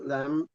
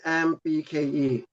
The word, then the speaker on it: Lembke: Anna Lambik, Lambik. So Lembke.